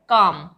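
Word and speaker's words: calm: तो यहां पे यह है पाम एल एल साइलेंट है पाम इसी तरह से सी एम काम दोनों का कॉमिनेशन याद रखिएगा काम बी ए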